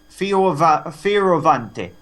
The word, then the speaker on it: Fioravante: That's his character in the film, Fioravante. It actually is pronounced like that.